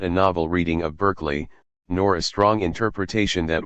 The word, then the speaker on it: Berkeley: chapter and paragraph seven first things first it's pronounced barklay instead of Beginning by stating what the general